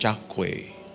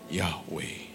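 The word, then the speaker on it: Yahweh: Ini ini harus harus tepat nih. Bukan Chawe. Ini bicara soal Yahwe.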